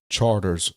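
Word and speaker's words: Chartres: cruising up and down some of y'all might mispronounce this is called Charters Street Kai you know people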